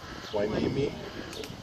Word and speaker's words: Hueneme: 25th, 1953 at Port Hueneme, California. They had to teach me how to say that. It is not spelled like it's got an H.